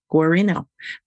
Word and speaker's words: Guarino: consultant today's guest is musician and therapist Susanna gorino please tell me if I'm pronouncing that right that's right okay Susanna is